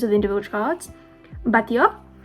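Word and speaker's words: Batlló: Batio. When you see 2 L's in Spanish, you pronounce that like a Y.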